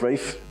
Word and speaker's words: Ralph: name is rafe rafe r-a-l-p-h is pronounced rafe but i can't pronounce